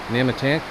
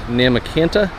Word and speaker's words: Nahmakanta: I've heard it pronounced as Nahmakanta and as Nahmakanta. My wife doesn't like the latter, so I'm going to stick with Nahmakanta, because I love my wife.